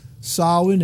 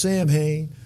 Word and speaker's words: Samhain: then you see on your screen now that's solid and that's how it's pronounced it look like it should be pronounced Samhain you know but it's ashli sovereign and now